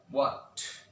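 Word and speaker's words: what: ও যদি না থাকে তাহলে এইচ এর উচ্চারণ হবে না, যেমন হোয়াট, Y, when, war, etcetera.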